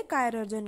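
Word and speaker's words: chirurgeon: तो सर्जन को पहले कायरर्जन कहा जाता था, ठीक है ना। तो आप स्पेलिंग भी देख सकते हो, लास्ट की सेम है, ठीक है, तो उसे ऐसे प्रोनाउंस करोगे कायरर्जन, ठीक है।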